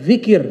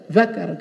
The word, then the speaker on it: zikir: Zikir dibaca zakar. Kalau zikir berzikir, kalau zakar itu kemaluan.